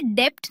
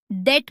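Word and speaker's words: debt: इसे डेप्थ नहीं डेट बोले।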